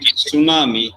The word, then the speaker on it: tsunami: You might have observed that, like we say it tsunami, but the spelling begins with T. It's Tsunami, right?